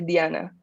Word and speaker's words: Diana: from mexico city so i do pronounce my name in spanish so i say diana i i don't get